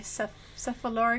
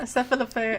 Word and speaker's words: Cephalofair: the new game by Cephalora Games. Is that how you say it? Cephalofair, I think. Cephalofair.